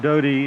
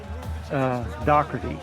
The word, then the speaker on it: Doherty: Richard Doty is 15 of 21 or 16 of 21, I think I said. I was going to ask because I didn't think I was saying it right. Doherty, Richard Doherty.